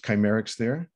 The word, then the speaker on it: Kcymaerxthaere: It's Kcymaerxthaere. And it comes from the cognate word chimera, which means the true physicality of the planet or universe.